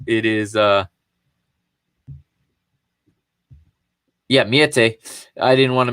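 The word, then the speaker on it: Meïté: It is Miete. I didn't want to mispronounce his name there.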